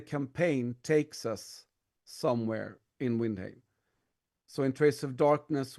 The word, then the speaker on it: Windheim: And yes, that's how you pronounce it, Windheim. Windheim. But I'm no purist. Anyone can pronounce Windheim whichever way they want.